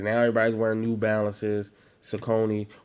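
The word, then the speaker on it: Saucony: everybody's wearing new balances sakoni or how they say it's soccer knee but where i'm from we call them soconys uh what's the new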